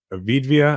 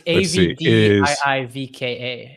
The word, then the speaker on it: Avdiivka: that's taken place in Ukraine, and it's what, Avidvia? I can't remember the name. I was hoping you would be able to pronounce this.